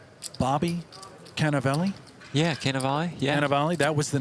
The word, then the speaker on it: Cannavale: Yeah, Cannavale.